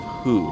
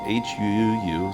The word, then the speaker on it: hu: And the healing sound is the sound of hu, like if you have an upset stomach. So it's spelled H-U-U, so hu.